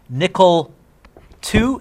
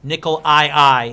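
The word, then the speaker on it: nickel(II): So, Ni2+ is called nickel 2 is how I pronounce it, but it's written nickel Roman numeral. So you don't read that as nickel II. It's not like you're a pirate or something like that.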